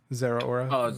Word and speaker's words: Zeraora: Is it Zeraora? Is that how you pronounce it? Yeah. Zeraora, the electric one.